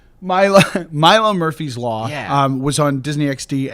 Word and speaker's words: Milo Murphy's Law: Milo Murphy's Law. It is. So I've got a friend that works on the show with me. I always say the name wrong because I'm like, yeah, Milo's.